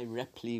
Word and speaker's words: Ripl: I did say this week was my Ripley week. Is it? Oh, I keep saying Ripley. It's actually Ripl. Anyway, however it's spelled, it's R-I-P-L.